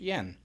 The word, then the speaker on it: Jan: It's spelled Jan, but it's pronounced Jan.